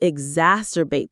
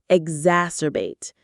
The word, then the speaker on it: exacerbate: Exacerbate. The X here makes a z sound.